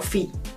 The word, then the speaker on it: phi: te muestro en la pantalla y que se pronuncia como phi.